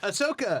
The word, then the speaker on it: Ahsoka: character is of course you know how to pronounce it ahsoka yeah yeah and she is going to be